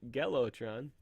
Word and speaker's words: Gelotron: you know but now that's spelled with a G so I'm gonna be pronouncing it get low Tron for the purpose of this